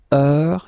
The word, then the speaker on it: heure: All right, so heure, you write it like that. Remember, H is not pronounced, okay?